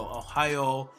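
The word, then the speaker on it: おはよう: now with Ohio Ohio it is very important to extend the oil at the end of Ohio whenever you have a u right after the O like this at the end of the word especially in this case it's gonna elongate the old sound so Ohio you want to make sure you stretch that out and elongate it now there is a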